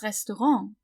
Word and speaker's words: Restaurant: Das Restaurant. So we pronounce it the French way, because it is a French word, so.